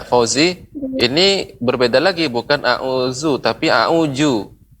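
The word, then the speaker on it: أعوذ: Ya, Fauzi, ini berbeda lagi, bukan a'udzu tapi a'uju. Ya, bukan a'uju ya. Bukan huruf jim, tapi za. A'udzu, za.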